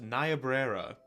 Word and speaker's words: Niobrara: Apparently, it's pronounced Niobrara.